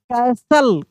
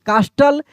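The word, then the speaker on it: castle: यहां पर देखिए सी ए एस टी एल ई कैसल कास्टल या कैस्टल नहीं कैसल क्या पढ़ेंगे यहां पे? कैसल डब्ल्यू एच आई एस टी एल ई इसको विसल पढ़ेंगे।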